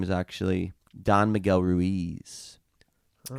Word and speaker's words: Ruiz: And I think I have said his name wrong many times because I think I in Spanish is pronounced E. So I think his name is actually Don Miguel Ruiz.